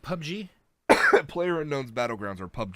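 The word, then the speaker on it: PUBG: everywhere and I'll get to that no it's pronounced pub G player unknowns battlegrounds are pub genes okay cuz every time I'd see it's like pub gear like that's not a fun active and why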